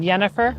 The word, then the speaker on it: Jennifer: It's not pronounced Jensen. It's Jensen. Yeah. My first name had been Yennefer.